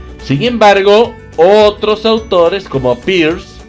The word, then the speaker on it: Peirce: Sin embargo, otros autores como Peirce o Peirce, así tal como se los menciono, es como se escribe, ¿no?